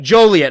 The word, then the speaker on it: Joliet: of Joliet Illinois Juliet Juliet Juliet how you pronounce that Julia Joliet okay so we got it right we got